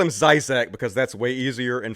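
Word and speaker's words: Slavoj Žižek: I'm really bad at pronouncing people's names. It's Slavoj Zizek. Okay, you said it. I'm going to call him Zizek because that's way easier and funner.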